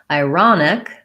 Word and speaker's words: ironic: Ironic, second syllable stress, although we still have some secondary stress on the I, so it's still that diphthong, but it'll sound more like ironic. So that letter O changes to the clear vowel ah, whereas in this one, it's unstressed syllable and it's a schwa, sounds like ah.